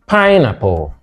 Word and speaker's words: pineapple: B, pineapple. C, expedient. D, circumstance. So which one is different from the rest? Eulogize, first syllable. Pineapple, first syllable.